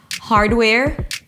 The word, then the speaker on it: hardware: It's a set phrase, so the first word is going to be a little higher in pitch and slower. Hardware, software. The second part is not reduced. It's not hardware like we were working, but where, as in where are you?